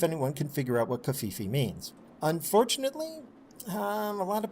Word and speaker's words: Covfefe: Covfefe, noun, pronounced Covfefe, a portmanteau of coverage and the internet slang term Muh Fee Fees.